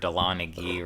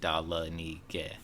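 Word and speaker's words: ᏓᎶᏂᎨ: Dalanige, which you've heard Dalanigi, right? What's that? Like, there's a school called Dalanigi around here. I That's know that. the color for yellow, but it's actually pronounced Dalanige.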